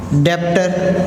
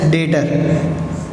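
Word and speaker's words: debtor: फिर हमने सीखा था डेब्टर, मतलब that is known as डेटर। हम प्रोनाउंस क्या करेंगे इसको? डेटर्स।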